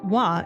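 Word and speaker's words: は: I was a kid a particle in Japanese the word pronounced wah is a particle that follows the subject or topic of a sentence.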